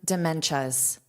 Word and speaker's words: dementia: So, notice this is pronounced as cha cha cha cha.